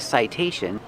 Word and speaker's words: citation: The T makes a T sound because it's before the stressed vowel.